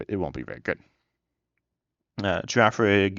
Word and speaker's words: Girafarig: Girafarig and no Girafarige. What it seems like the beginning and end should be pronounced the same, and then for a giraffe, both.